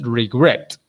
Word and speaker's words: regret: Que el stress tiene que estar en la segunda sílaba. Por eso la palabra es regret.